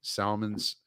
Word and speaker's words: Salmons: to my Substack, Salmons, SALMONS, like salmons, the fish, a school of them. But I'm from the South, so we pronounce the L, you fucking Yankees.